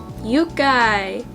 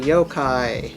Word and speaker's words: yokai: and mashing together dragon yukai but spelled wrong it's actually yokai yokai and i even said it wrong gail's yokai is pretty